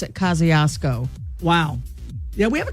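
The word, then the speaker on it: Kosciusko: But you pronounce it Kosciuszko.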